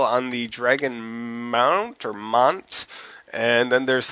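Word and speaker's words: Dragonmont: Is it Dragon Mont or Mount? I think it's supposed to be Mount. Okay, it's spelled Mont but pronounced Mount. That makes all the sense in the world to me.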